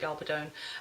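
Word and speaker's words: Gabaldon: since the '90s um the author Diana galon or galadon however she pronounce I think she pronounces it galadon um has been is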